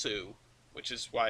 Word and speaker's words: Sioux: Yeah, well, it's pronounced Sioux, which is why it's the Sioux.